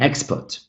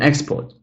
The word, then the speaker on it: export: An export. Sorry, an export.